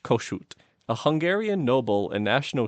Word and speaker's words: Kossuth: He's sometimes also uh Lewis Koshoot.